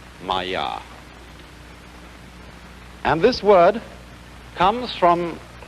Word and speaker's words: Maya: Pronounced Maya.